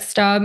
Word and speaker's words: Steube: Johnson, GOP Representative Greg, how do you say that? Stubb? I never know how to say his name. Steube.